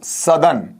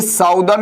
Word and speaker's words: southern: इसका उच्चारण सीख लीजिएगा सर, इसे मैं स्पेशली इंडिकेट करना चाहूंगा आप लोगों के लिए। SOUTHERN, ये साउदर्न नहीं होगा, इसका जो उच्चारण आपका बनेगा ये क्या बनेगा? सदर्न बनेगा।